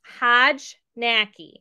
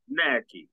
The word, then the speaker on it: Hojnacki: I don't butcher it it's hjj knacki it's very polish knacky okay okay you are